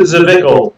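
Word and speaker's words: Zwickel: Zawickle, yeah, I'm supposed to pronounce it Zawickle.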